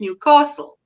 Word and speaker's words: Newcastle: An enemy would Newcastle, where us in Gordyland called it Newcastle. Oh, okay. Oh, Got it. rightio. Oh, my goodness. I overpronounce the new. Yes. As it said locally, you overpronounce the castle section.